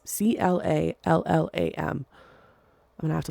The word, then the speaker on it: Clallam: 2018 after a joint effort from Othram and Clayam County Sheriff's Office. I'm so sorry, I don't know how to pronounce that. Clallam. It's Clallam.